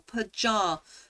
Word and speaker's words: pajamas: How do you pronounce the second syllable of pajamas? The second syllable, pajamas, palm.